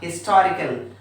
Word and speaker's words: historical: But at present now, in many countries, including in India also, we pronounce this sound ha, historical.